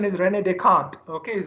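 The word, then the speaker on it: René Descartes: His name is Rene Descartes. The spelling is very complicated, so people pronounce it in a very weird way. but the pronunciation is Rene Descartes.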